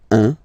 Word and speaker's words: un: All right, so when you combine this u and n, you get the nasal sound 1, 1.